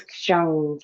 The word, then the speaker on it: kshang: The seed syllable is kshang, K-S-H-A-N-G.